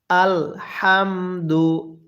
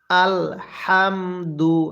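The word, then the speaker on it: الحمد: সাথে সাথে পড়বেন বলুন আলহামদু হাটা উচ্চারণের সময় মুখের মধ্যে হালকা বাতাস বের করবেন পড়ুন আলহামদু হ্যাঁ এরপরে লিল্লাহি এরপরে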